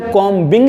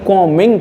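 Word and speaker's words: combing: एक लेटर आता है बी लेटर जो होता है इसमें साइलेंट होता है इसका हम उच्चारण नहीं करते हैं इसे हम कॉम बिंग नहीं कहते हैं बल्कि कमिंग कहते हैं कॉम मिंग ठीक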